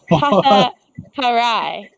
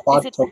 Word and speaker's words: Parto: Parai. Is that right? It's Parto Parto.